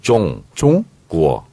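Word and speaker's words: 中国: 그래서 중국은 네. 중으로 안 나고 종. 구어. 종구어. 종 발음 있잖아요. 받침 종구어. 있잖아요. 종구어. 이응 받침이 아니에요.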